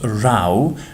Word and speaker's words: row: row in British English this word here which is spelled are o w is pronounced rao means the same thing